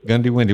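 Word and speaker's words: Goondiwindi: it anyway you're what how' you pronounce that Hometown you're from goody goody windy Gand yeah Gand windy Gandy windy what's that mean to be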